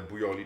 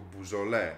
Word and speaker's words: Beaujolais: Bo te Bujoli czyta się jako Beaujolais, pamiętajcie o tym.